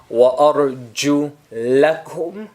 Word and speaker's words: وَأَرْجُلَكُمْ: وَأَرْجُ لَكُمْ وَأَرْجُ لِكُمْ وَأَرْجُ لَكُمْ وَأَرْجُ لِكُمْ. Once I say it with a fatha, وَأَرْجُ لَكُمْ, and the other time I say it with a kasra, وَأَرْجُ لِكُمْ.